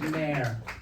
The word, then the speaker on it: Maher: It's pronounced Maher, okay?